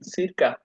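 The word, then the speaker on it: circa: মূল উচ্চারণ কি, সিরকা, বা আপনি কাও বলতে পারেন।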